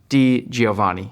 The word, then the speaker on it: DiGiovanni: pronounces things slightly different if you split my last name into two different ways it's D Giovani so that makes it easier to think about D Giovani if you put it